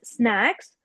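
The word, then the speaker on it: snacks: जैसे आपने बोला स्नैक्स, जो आपसे पहले जिसने रीड किया था कॉन्वर्जेशन, उन्होंने स्नैक्स नहीं बोला, कुछ और प्रोनाउंस किया था। सो इट इज स्नैक्स and next is flavour, it is flavour.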